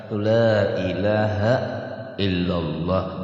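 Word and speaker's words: لا إله إلا الله: Jadi la ilaha itu kada panjang kalau lah la ilaha illallah, jangan la ilaha, jangan tuh sebab la panjang, ila panjang, haknya biasa gitu tulisannya tuh illa Allah panjang gitu.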